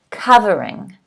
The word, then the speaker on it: covering: all right the first word is covering covering the stress is on the first syllable covering a layer that hides